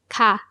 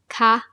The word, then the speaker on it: ค่ะ: ครับ But the polite particle. ค่ะ has two ways of pronouncing it. ค่ะ and. ค่ะ Here are the differences. The polite particle for female speakers. ค่ะ with a high tone is used when you ask a question.